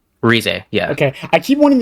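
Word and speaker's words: Rize: Rez.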